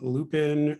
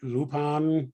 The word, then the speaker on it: Lupin: on a character called Lupin lupon however you want to pronounce it the third who